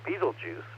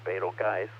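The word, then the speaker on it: Betelgeuse: it is similar to Beetlejuice or betal guys depending on how you want to pronounce it which is also an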